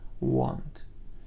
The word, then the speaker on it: want: حرف A آواز او را داد، مثل در کلمه های hot و rock. اگر این کلمه را در تلفظ انگلیسی آمریکایی ببینیم، حرف A کمی درستر تلفظ می شود. want.